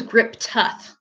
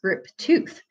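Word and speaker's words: Griptuth: I thought it was Grip Tough because it's spelled T-U-T-H. But someone in the comments the other day said it's pronounced Grip Tooth.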